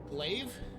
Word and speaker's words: Glaive: The number one ship that I would recommend flying would be the Glaive. That's how you pronounce it.